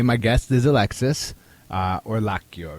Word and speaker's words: Orlacchio: hello hi okay my guest is Alexis uh or laio right how do you how you pronounce it perfect okay excellent and Alexis is